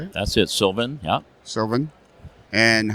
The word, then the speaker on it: Sylvan: That's it, Sylvan. Yeah. Sylvan. And how long you been in business? 28 years next month. 28 years. Yeah. Wow. And where you're from? Downtown Sylvan, Ontario. Population 25. Coincidentally, Sylvan Scale Models.